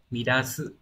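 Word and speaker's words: 乱す: Chữ loạn này thì còn có cách đọc khác ở dạng tha động từ, đấy là gì nhỉ? Midasu là làm rối loạn này, và âm onyomi là dan nhé.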